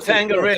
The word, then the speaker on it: Tanqueray: How do you pronounce it? Tanqueray.